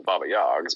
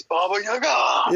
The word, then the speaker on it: Baba Yaga: Well, now it's super fun on Baba Yags, but Baba Yags. Too much. That's Prometheo's like so pissed right now. He's like, "It's Baba Yaga."